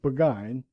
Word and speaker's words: Burgoyne: Nutting had a famous foxhound named Burgoyne. He pronounced it Buggine, which my informant used to borrow.